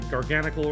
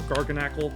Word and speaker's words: Garganacl: Base EXs, we got the Garganical or Garganacle, whichever you prefer.